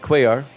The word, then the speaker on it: Cuellar: That's how you pronounce it, Cuellar.